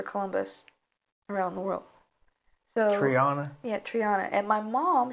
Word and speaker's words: Triana: No, it says Triana. Triana. Spell that. Triana. But it's actually Spanish from Spain. There's a resort town in Sevilla, Spain called Triana.